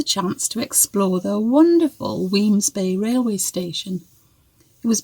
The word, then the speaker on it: Wemyss Bay: I know it's a funny spelling, but it is pronounced Wemyss apparently.